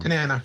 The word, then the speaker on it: Tanana: catching at eight, and Frank Tan Tanana is that I always say it wrong. Tanana. Yeah, Tanana is banana is the ace.